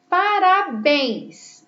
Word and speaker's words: parabéns: Parabéns. Olha que a última sílaba é a mais forte, por isso ela é uma palavra oxítona e terminada também em ens.